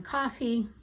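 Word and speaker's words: Coffey: in the book is John coffee like the drink but not spelled the same and he is is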